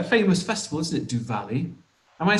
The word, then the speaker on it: Diwali: Yeah, it's a very famous, quite a famous festival, isn't it, Diwali?